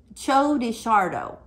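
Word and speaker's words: Txorixero: to pronounce it okay it's a show de chardo chodeishardo pepper and it's a totally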